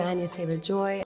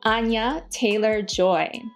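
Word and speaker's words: Anya Taylor-Joy: Here is her pronouncing her own name. Hello, I'm Anya Taylor Joy. Anya Taylor Joy.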